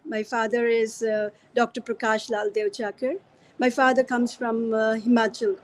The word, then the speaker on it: Duechakar: even this, my surname, which is Devchakar, how we pronounce it, is a local word from Himachal.